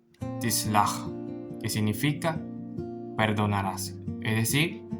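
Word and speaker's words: תסלח: Entonces aquí la pronunciación de esta palabra es tislach, que significa perdonarás, es decir, tú perdonarás.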